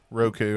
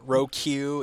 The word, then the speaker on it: Roku: Do you say Roku or Roku? Roku. I pronounce it correctly. Yeah. Roku is not right. Roku is the number 5 in Japanese.